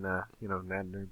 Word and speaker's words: Nadnerb: So do you prefer then Nadnerb or Nadnerbed? I would prefer that nobody ever pronounce the D. The D is silent. It's only there for disambiguation purposes. The D is silent. So, Nadnerb is all good.